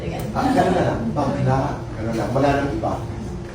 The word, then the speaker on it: bakla: Bakla.